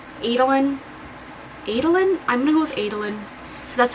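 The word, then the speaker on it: Eadlyn: Her name is Adlyn, E-A-D-L-Y-N. I'm gonna go with Adlyn Adelion. I'm gonna go with Adelion, because that's how I was like pronouncing it in my head.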